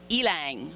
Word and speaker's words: ylang: I even had to look it up to find out how to pronounce it. It's ylang, Y-L-A-N-G, ylang.